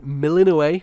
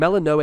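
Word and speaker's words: Melinoë: we are playing as melino or melano I think melano is the Greek actual pronunciation but um a lot of characters in the game say melino and um she is zagar's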